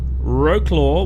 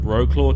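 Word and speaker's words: Wrocław: And we are going from Wroclaw, which is, look, I know that it's said differently, but I'm in Australia and we call it, looks like Wroclaw to me. Wroclaw to Dover.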